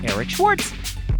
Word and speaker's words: Eric Schwartz: It's pronounced Eric Schwartz.